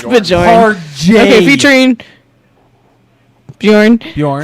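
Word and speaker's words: Björn: How do you pronounce his name? From Soilwork. Bjorn? Bjorn. Bjorn. It's Bjorn.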